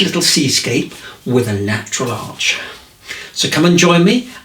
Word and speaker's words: Arches: Okay, so I've always had a fascination for these arches, and I'm not talking about the watercolour paper, which is pronounced arch anyway.